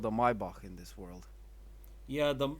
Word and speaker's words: Maybach: had a choice of the Maybach or my bark as you mispronounced it and a rolls-royce